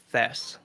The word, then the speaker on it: Thies: from, is it Thies? Am I saying your name correctly? The last name's pronounced Thess. Thess, okay. so like Thess, like this, with a little extra adage to it.